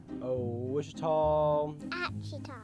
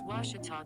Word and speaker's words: Ouachita: ouachita sports digital network i've heard people say oh a cheetah oh wichita oh a cheetah is it pronounced searching for washi at a baptist university back in texas everybody pronounces it wichita but really it's ouachita washington washington how would you pronounce it it's washita baptist university get it right it's watertall people it's